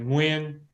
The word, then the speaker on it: Nguyen: it right are you new yen are you when so I go by win if you're Vietnamese and call me win slightly harder so the pieces that